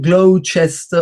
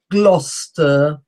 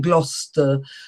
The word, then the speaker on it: Gloucester: ones are Gloucester, spelt Gloucester, but it's not Gloucester or Gloucester or Gloucester. The pronunciation is Gloucester. I've written the pronunciation at the end with a black border around it. That's the actual pronunciation, Gloucester.